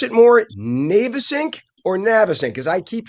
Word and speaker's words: Navesink: fireworks on the Now, we can pronounce this two ways. I believe the formal way is the Navesink, but I think a lot of people call it the Navesink.